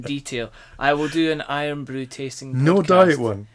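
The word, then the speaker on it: Irn-Bru: a traditional Scottish drink called iron Brew which is spelled i r n b r u which um became famous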